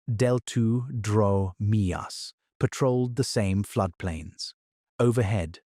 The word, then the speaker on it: Deltadromeus: Smaller, faster theropods called Deltadromeus, pronounced Deltudromeus, patrolled the same floodplains.